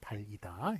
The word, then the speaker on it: 달이다: 달이다. 그래가지고 요렇게 뭐 발음은 똑같죠. 이게 연음이 되기 때문에 그렇지만 표기가 이렇게 다르다는 것 기억해 주시기 바랍니다.